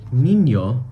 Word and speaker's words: niño: Then if you have the word niño, which means boy, tiny boy, niñito, so niño would be pronounced N-I-N-O in English, but then in Spanish, we would pronounce it as N-E-N-O.